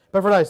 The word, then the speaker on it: Epaphroditus: Titus and Timothy, Luke, Epaphroditus, I can never say his name. Epaphroditus, thank you.